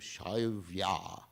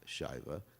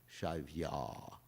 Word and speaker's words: Shaivya: So his wife was named Shaivya, not Shaiva, Shaivya, with a long A. That's the way you know it's feminine, with a long A at the end.